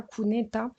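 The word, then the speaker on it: cuneta: on parle beaucoup en Espagne des kuneta ça s'écrit Cu n e t a kuneta et les kuneta c'est les c'est les bord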